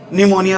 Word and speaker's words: निमोनिया: spelling आ जाती है P silent होता है यहां पर निमोनिया की स्पेलिंग में क्या आता है अी प आता है इसको पी निमोनिया नहीं बोलेंगे क्या बोलेंगे अी निमोनिया बोलेंगे बताओ बीमारी का नाम